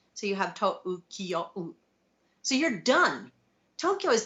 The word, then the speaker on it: Tokyo: fairly simple its logistics but Tokyo in English is two syllables so you could put Tokyo and Kyoto in your first line of a five seven five haiku right but if you're writing in Japanese Tokyo is five Morra or what we would we